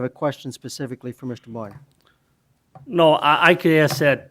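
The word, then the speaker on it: Boin: hearing it pronounced right it's b o i n and it's pronounced boy n thank you Mr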